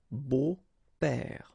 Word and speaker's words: beaux-pères: Okay, but then it's exactly the same thing, because you don't pronounce it. Des beaux-pères.